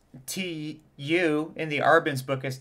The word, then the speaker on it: tu: would say it was Tu Tio it's got like a y it's not a ooh it's got more of like a y vowel and when you say